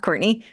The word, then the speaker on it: Courtenay: differently it's like courtin uh but it is pronounced Courtney but it's c t n a y t